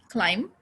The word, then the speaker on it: climb: please say with me climb no b only m climb home ready so this